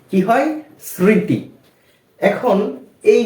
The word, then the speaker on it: স্মৃতি: সেইভাবেই বা ওই নিয়মেই এই যে স্মৃতি এখানেও শব্দের প্রথমেই ম ফলা ছিল এজন্য আমরা ম এর উচ্চারণটা করিনি এখন আরেকটি শব্দ দেখা